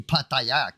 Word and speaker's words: Pattaya: Pattaya. Pattaya. There you go. That's how you say it. Pattaya.